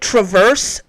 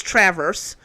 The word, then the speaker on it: Traverse: Um, and for all the people who keep calling it Traverse, Grand Traverse County, and Traverse City, that's not how we pronounce it in Michigan. It's Traverse, just in case you didn't know.